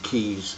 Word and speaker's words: Kies: problems with the accompanying Keys software that Samsung's own software k-i-e-s I think you pronounce it keys but it's caught a